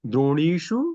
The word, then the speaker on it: द्रोणीषु: So if before sh, if ekarant bhavati, then saraswati sa becomes sadmukha sa. So is ekarant, tarahi it becomes sadmukha sa. अस्तु Vastrani drodyam santi. Sorry, vastrani dronishu santi.